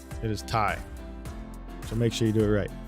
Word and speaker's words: Ti: Guys, it's not TI. If you say TI, you're saying it wrong. NVIDIA blew millions in their budget for the year to let us know in that, whatever, that electronics show that we were saying TI wrong.